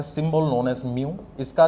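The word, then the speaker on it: μ: Refractive index ये एक symbol से डिनोट होता है, जिस सिंबल को हम कहते हैं, प्रोनाउंस करते हैं बाय म्यू, ओके।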